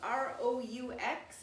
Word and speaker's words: roux: And we're making what's called a roux. It's spelled r o u x.